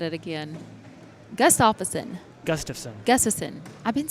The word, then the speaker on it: Gustafson: Gustafson.